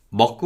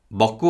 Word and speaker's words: 먹고: Listen to the following phrases and listen carefully to how the vowel or is pronounced as 우. 먹고 왔어요. 먹고 왔어요.